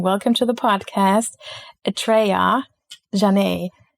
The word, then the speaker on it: Atrayah Janhe: I have to look into my notes to pronounce the beautiful name. Welcome to the podcast Atreja Jonai.